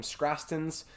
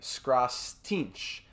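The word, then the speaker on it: Skrastiņš: And this prospect here, I was pronouncing his name Skrastins. It's actually Skrastinch.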